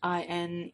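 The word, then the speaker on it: Inej: Caz Nina in I I think her name is pronounced in it's i n EJ so I think it's in I'm not sure Mathias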